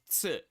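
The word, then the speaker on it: つ: And this is ts. So this one's a very hard one to pronounce. It is ts. Not s. Ts. So you add a little T sound in front of the s sound. Ts. S. S. And then instead it goes ts.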